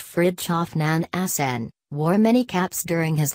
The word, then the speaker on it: Nansen: Fridtjof Nansen, pronounced Fridtjof NAN-sən, wore many caps during his lifetime: scientist, explorer,